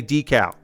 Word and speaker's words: decal: in there yes uh traditionally I would say decal because that is how you say it in America in American English you say decal Canadians not all Canadians I have found out but many Canadians say deal um but my many